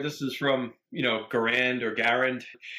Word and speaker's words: Garand: know Garand or Garand you get to a point where if you say it the right way at least in this country you look silly or pretentious so whenever I say it like like I'll never say garant ever even though it's almost proven dead to rights because it's Canadian word and in French that's probably how it was and it's very American